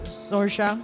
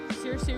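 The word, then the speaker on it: Saoirse: I know that's Sorsa. Shorsa Cleo, how do you pronounce Soury Ronin's name?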